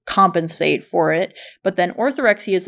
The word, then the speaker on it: orthorexia: I mean, and I understand that you dealt with orthox or or how do you pronounce it? Orthorexia. Orthorexia.